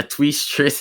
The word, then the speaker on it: Tweestrijd: And then Tweestrijd, or as Tweestrid. yeah, Tweestrid in the not Dutch pronunciation.